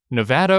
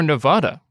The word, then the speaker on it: Nevada: We have the pronunciation of Nevada or Nevada. There is no official pronunciation.